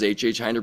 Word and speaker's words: Hinder: know, a few weeks later saying, "This is HHinder Brewing calling." I'm like, "Ah, that's how it's pronounced."